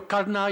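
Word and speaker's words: Karna: characters in The mahabarata I don't say Kar which I probably should but I I say Kaa and my apologies for that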